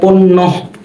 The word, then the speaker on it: পণ্য: যেমন উদাহরণস্বরূপ বলতে পারি পণ্য, পণ্য বানানটা কেমন? প মূর্ধন্য জফলা পণ্য। দেখেন নটা কিন্তু দুইবার চলে আসে উচ্চারণের সময়। পন একবার বললাম পন, আরেকবার বললাম ন, পন ন, পন ন।